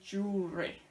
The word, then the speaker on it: jewelry: So this looks very complicated, but we just say jewelry. So it's just 2 syllables when we say it.